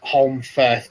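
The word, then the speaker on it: Holmfirth: just said Brigitte says it's Holm Firth, not Forth, and Safia says it's not far from where she is and quite near where the guild archive is.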